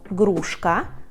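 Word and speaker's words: gruszka: І далі у нас грушка грушка як ви розумієте це грушка тільки Зверніть увагу що перший Звук все-таки був г ґ грушка не Г а г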